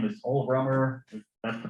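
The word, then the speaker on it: Rømer: sustainable stronger i think his name was old romer that's the pronunciation it was looking at uh io orbiting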